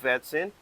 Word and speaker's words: vetsin: So that's why I said marger and and also we use vetsin. So when you pronounce that it should be pronounced with the vibration of that letter V.